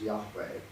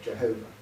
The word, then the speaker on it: Jehovah: So if you mix up the consonants of what we sometimes pronounce as Yahweh with the vowels of Adonai, you get Jehovah.